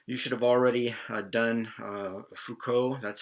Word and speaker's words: Foucault: word deconstruction so you should have already done Fuko that's how you pronounce his name michel foucault don't say pho called he's Foucault and Jacques Derrida yes they're both French I'm